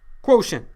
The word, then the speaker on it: quotient: T-I-E-N-T, not how you'd maybe expect it to be spelled, sounds different. Pronounce it. Quotient is the solution in a multiplication problem.